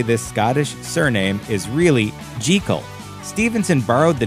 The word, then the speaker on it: Jekyll: scottish surname is really jikel stevenson borrowed the name from his good friend famed british horticulturist gertrude jikel common conjecture states that the choice of this name that rhymes with seek all is a clever bit